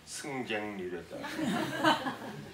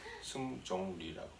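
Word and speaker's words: 승종 리: 제가 내 이름은 승종리라고 그랬더니 너를 얼마나 많이 부르는지 모른다는 거예요. 한 20분이나 방송으로 라디오를 들을 수 있도록 그 어나운서먼트 했다는 거야. 뭐라고 그러니까 승객리랬다. 나는 승객리가 아니라 승종리라고.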